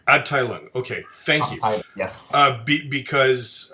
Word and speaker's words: Abteilung: As someone who does not speak German, how do we pronounce Abteilung? Abteilung. Abteilung.